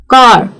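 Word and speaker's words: car: ही नहीं तो फिर वो हो जाता है साइलेंट। जैसे कि मदर, ब्रदर, कार, फॉर। यह जो है ना यह मैं आपको ब्रिटिश एक्सेंट सिखा रही हूं। ब्रिटिश प्रोनाउंसिएशन की बात कर रही हूं मैं यहां पे।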